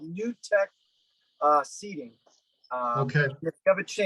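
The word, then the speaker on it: Nu-Tech: California and it's it's spelled n-u hyphen t e c h it's called new tech uh seating what they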